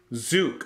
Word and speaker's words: Tzuke: Judie Tzuke. Okay, so I am way off. Okay, Judie Tzuke.